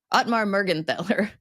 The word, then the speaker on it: Mergenthaler: If it's a th, it's more of a t sound. Okay, So Mergenthaler. what is it? Mergenthaler? Much better, thank you.